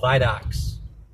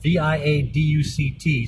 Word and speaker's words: viaduct: And the bridges over the valley, we don't call them bridges, they're called viaducts. It's spelled V-I-A-D-U-C-T, so you'd think it'd be viaduct. No, it's viaduct. That's how it is here in Milwaukee.